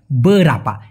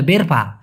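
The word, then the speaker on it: berapa: বরাপা কি বলা হয় বরাপা সঠিক উচ্চারণটা একসাথে শিখে নিবেন একবার উচ্চারণ করবেন অনেকে বলে বেরফা বারাফা না ভাই এটা হবে বরাপা লেখাটা দেখুন আমি মালয়েশিয়ান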